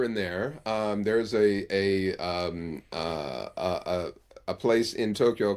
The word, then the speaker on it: Tokyo: will say, for example, they'll pronounce the Japanese capital with three syllables. It only has two, Tokyo, and it's a long. The to is long, Tokyo. The kyo is shorter than the o in Tokyo.